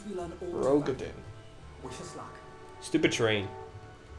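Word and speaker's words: Roegadyn: No, it's Rogadin. Because I remember. I said it wrong. Rodigan I said it sounds- wrong for like a year. Yeah, you said it the way that sounds better, but it's not correct.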